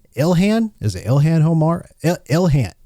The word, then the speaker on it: Ilhan: Let's start with the money uh the money mystery over with Representative Elhan Omar. Is that how you say her name? Ilhan.